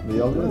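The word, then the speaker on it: Beyoğlu: How do you say Beyoglu? Beyoglu is good.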